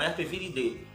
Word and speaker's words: Herpesviridae: Percebe ali a terminação, quando se fala, termina com AE, a gente pronuncia D. Então Herpesviridae, tá?